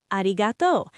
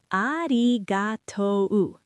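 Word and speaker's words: ありがとう: ありがと Arigato. This is thank you. Let me say it slowly. Arigatou.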